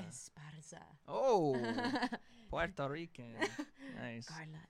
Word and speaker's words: Esparza: No, you have to roll your R. Come on. Esparza. No, that was bad. Oh, that's bad. Esparza. You do it. I can't. Esparza. Esparza.